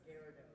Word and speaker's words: Gyarados: That's actually, it's pronounced Gyarados.